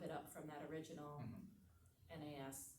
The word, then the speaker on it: NAS: up from that original NAS, is that what you say, how you say it, Correct, yeah. NAS, okay.